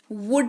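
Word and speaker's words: would: करते हैं वह डिग्गी डब्लू ओ यू एल डी एस की स्पेलिंग है लेकिन उच्चारण जब आप करेंगे तो L का इस्तेमाल नहीं करेंगे वुड इसको आप पढेंगे इसका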